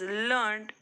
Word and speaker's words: learned: We says I learnt my lesson, action word, but a learned Pandit came to the court, describing word. We pronounce it as learned to a rhyme, created or waited.